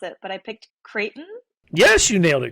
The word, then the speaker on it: Creighton: know because I don't know how exactly you pronounce it, but I picked Creighton. Yes, you nailed it, Creighton.